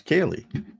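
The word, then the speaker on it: Kelee: Ryan says, "Can we get some clarification on how to pronounce Key's name?" Jax says it like Kaye. It's Kaye.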